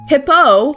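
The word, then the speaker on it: Hippeux: Hippo is a hippo. Yes, the X is silent in his name.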